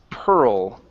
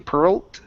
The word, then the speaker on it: pearl: here is Pearl okay you you pronounce the T sound at the end saying Pearl okay so end on that L okay in her Chariot of pearl in her Chariot of pearl there you go good nice l sound excellent okay thank you